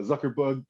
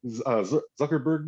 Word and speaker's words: Zuckerberg: push it like uh zuckerbug zuckerberg is how you pronounce his name zuckerberg um you know